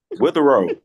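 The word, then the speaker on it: Witherow: say your last name it's your last name with a row with a row did I say it right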